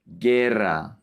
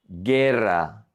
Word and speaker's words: guerra: And then we have the combinations GUI and GUE, where the U is silent, and we say ge, GUE, gi, GUI. For example, guitarra, guitarra, guitar. And with GUE, we have guerra, guerra, war, guerra.